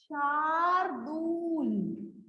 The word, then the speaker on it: शार्दूल: शार्दूल ऐसे, शार्दूल इसकी प्रोनाउंसिएशन है शार्दूल। ओके, र पूरा नहीं है, शार्दूल।